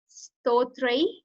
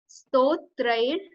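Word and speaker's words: स्तोत्रैर्: Next, Stotrai. Stotrair. So you have to pronounce like R as well here. It's not Stotra. So when you will combine like air to it, it's Stotrair Jagat Tritya.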